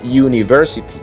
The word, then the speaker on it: university: decimos university o university bueno universidad en inglés se pronuncia university ese sonido como the unicorn esa misma uno se broncea in the unicorn university utilizamos el sonido de it y es un sonido consonante por lo tanto tenemos